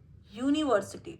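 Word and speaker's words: university: ही इज an employ, he reads in अ यूनिवर्सिटी, देखो यहाँ पे यू स्वर तो है लेकिन उसका उच्चारण व्यंजन जैसे हो रहा है, इसलिए ए यूनिवर्सिटी। और सेम दूसरे लाइन में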